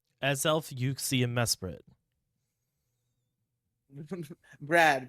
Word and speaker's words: Mesprit: is Mesprit yuie AEL it's not mesp it's Mesprit ah well I've never been go with Pokemon names anyway it's Mesprit yeah there's only one I m s p r i t Mesprit like a Sprite but without the e so sprit I've always called uh